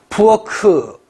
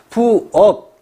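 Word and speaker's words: 부엌: 예를 들어서 아까 부어 같은 경우가 중화가 일어나지 않는다면 어떻게 발음을 할까요, 여러분? 부어크. 이런 식으로 발음되지 않을까요? 부어크, 부어크. 뭐 이런 식. 그런데 이런 불파화로 인해서 중화가 일어나서 부억, 기역으로 실현이 되는 거죠.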